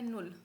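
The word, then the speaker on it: null: आगे आपको समझ आएगा जीरो को बोलते हैं नुल जीरो को बोलोगे नल वन को बोलते हैं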